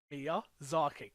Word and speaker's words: Miyazaki: Miyazaki. You got it. Miyazaki.